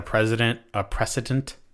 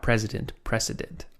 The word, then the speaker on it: precedent: I mean, I feel like it's probably they're just trying to set a precedent. Not president. Precedent.